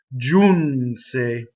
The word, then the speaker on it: Giunse: more Italian first word June say so if you notice this the G is soft the eye is a semi vowel the N goes into the S June say the e is closed next word I'll feel